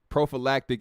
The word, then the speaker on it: prophylactic: prolific said pro uh prophylactic is the correct way to say oh prophylactic okay okay